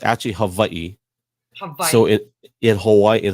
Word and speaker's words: Hawaii: actually you said it right so it's actually Havi hav so in Hawaii in Hawaiian language we